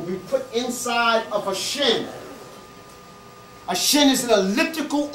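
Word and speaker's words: shn: It's a shin. S-H-N. Or if you can put a little E in there if you can't pronounce it.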